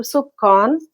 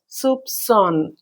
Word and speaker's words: soupçon: the letter C, and it is to be pronounced as with the S sound.